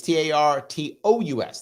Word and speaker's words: Tartus: Yes, it's Tartus Port. So the name of the place is Tartus. The name of the port is Tartus, I guess. It's Tartous.